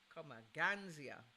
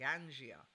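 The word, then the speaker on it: ganja: It's like going to college or university to become a Ganzia. I want to say it correctly, a Gangia in the world.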